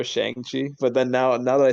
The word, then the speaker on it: Shang-Chi: actually, I actually don't even like saying Shang-Chi. I actually prefer Shang-Chi, but then now that I say Shang-Chi, it sounds really cringe.